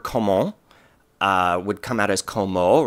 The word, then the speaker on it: comment: would come out as comment. Remember, we're extending the nasal when it doesn't come before a plosive, and the T is silent here, so we're just going to elongate the O, so it's comment.